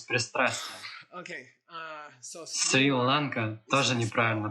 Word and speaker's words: Шри-Ланка: название которой исковеркано вечно, это Шри-Ланка, это не Сри-Ланка. Просто исчезла точка снизу.